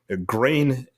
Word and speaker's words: Gruene: And Green Hall is the oldest dance hall in Texas, and it opened in 1878 near New Braunfels. Grain is German and is spelled Gruene, for those